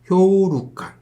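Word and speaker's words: 兵糧丸: 병란환, 일본어 발음으로는 효우루칸.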